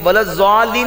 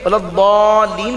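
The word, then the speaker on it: ولا الضالين: نماز درست نہیں ہے، کیونکہ دعات کا جو اصل تلفظ اور اصل مخرج ہے وہ دال کے مشابہ ہے، زال کے مشابہ، یعنی ولضالین نہیں پڑھنا بلکہ ولضالین پڑھنا ہے، دعات کو پر کر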